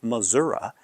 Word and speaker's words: Missouri: And the data set sort of supports this because 100% of the people who pronounced it Missourah were from Missouri, while only 2 people, or 20% of the people who said Missouri, were from the state originally.